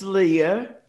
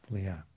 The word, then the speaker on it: Leah: Yes, Rick, it's Leah. Leah, great.